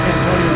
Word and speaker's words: Cantonio: That's Cantonio like San Antonio.